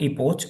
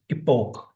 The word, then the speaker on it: epoch: the the pronunciation here it's not Epoch it's epoke epoke epoke okay so it will